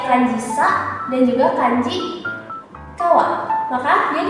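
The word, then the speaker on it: 川: apabila dia berdiri sendiri seperti ini, maka dia dibacanya kawa atau gawa. Sedangkan apabila dia ditemani oleh kanji lain maka dia dibaca onyomi. Onyominya itu adalah sang. Nah, di sini ada kanji sa dan juga kanji kawa.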